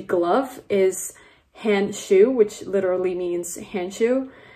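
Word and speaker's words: Handschuh: German the way that you say glove is hand shoe which literally means hand shoe and I know it's like pronounced the same thing which is actually pretty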